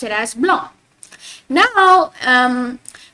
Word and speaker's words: noir: pronounce it as blond now um black in French we pronounce it as no so the r you got to pronounce it with your throat no repeat after me